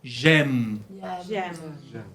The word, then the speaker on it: j'aime: Vous savez, quand vous dites votre âge, vous dites j'ai 20 ans. Tengo 20 años, ¿no? Et j'aime, es la misma pronunciación que tengo. J'aime.